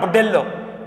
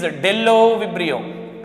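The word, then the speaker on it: Bdellovibrio: Okay, but pronounce not Budello. It is Dello-vibrio.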